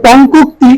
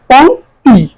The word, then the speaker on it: পংক্তি: আমরা উচ্চারণ করে পংকুক্তি, কিন্তু এটা হবে উচ্চারণ পংক্তি। ক এবং ও এবং ক এর মধ্যে হর্ষন্ত উচ্চারণ পংক্তি।